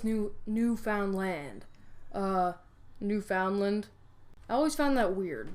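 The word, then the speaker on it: Newfoundland: Uh, New Foundland. I always found that weird. The that the Vikings found this great new place and chose a name like New Foundland. Yes, I know it's pronounced New Finland.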